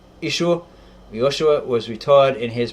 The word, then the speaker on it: Yeshua: Yeshua, pronounced Ishor.